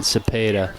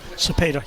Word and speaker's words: Cepeda: Sebastian pronounced it Cepeda. Cepeda, yeah.